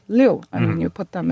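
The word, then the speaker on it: 六: So, because the number 6 is pronounced liu, and when you put them in a triple, 666, Okay.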